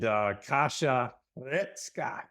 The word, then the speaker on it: Kasia Hrecka: And Kasia Hrecka, did I say it right, Kasia?